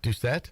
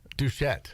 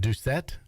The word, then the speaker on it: Doucette: Doucette. Yeah. You call him a dude. What did you call him? Douchette. Where did you get the sh from? Oh, is it Doucette?